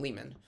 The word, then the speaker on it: Lehmann: the same so um whereas Harry he pronounces his last name Leman not Layman Leman um okay I'm gonna